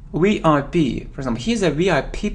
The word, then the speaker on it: VIP: it isn't VP it's VIP VIP for example he's a VIP person VI we pronounce it like three separate letters letters we P we